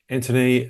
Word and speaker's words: Anthony: uh hello my name's Anthony um it's a silent h there's no reason for you to know that I'm just telling people